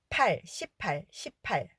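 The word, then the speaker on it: 십팔: 그런데 이건 나쁜 말 발음을 과 혼동되지 않도록 주의하셔야 돼서 이걸 숫자를 발음하실 때는 18 들리시나요? 나쁜 말은 씨발, 숫자는 18.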